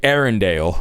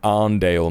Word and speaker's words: Arndale: It's crazy how he pronounced that, by the way. Arundel. Ford cargo truck. The bomb was transported to the Arundel shopping center. It's the fucking Arndale, mate. It's the fucking Manchester Arndale.